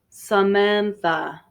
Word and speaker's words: Samantha: but we pronounce uh samantha okay so both a's have the unstressed sound here and the last one